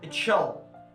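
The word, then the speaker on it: chill: بيحصل عنه عملية ارتجاف أو رعشة، ودي اتشل. السي اتش بتنطق في الانجليش اتشل.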